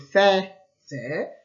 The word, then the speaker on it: faisait: Il s'écrit AIS, donc on pourrait dire faisait, mais malheureusement la langue française elle est un petit peu bizarre et donc on dit faisait.